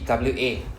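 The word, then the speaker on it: は: The HA is actually pronounced as W in this context only as the particle itself.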